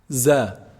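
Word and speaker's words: ظ: Za. Za is pronounced just between the two incisors. When you put the tip of the tongue between the two incisors and closer, slightly closer to the lower incisors, z, z produces this sound, za.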